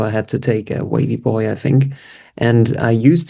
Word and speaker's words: wavvyboi: wavvyboi, that's the right pronunciation. Yeah, I think it's more wavy boy.